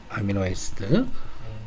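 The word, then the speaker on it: amino acid: 아미노라고 발음합니다. 탄칸 띄우고 에시드라고 그래요. 아미노 에시드.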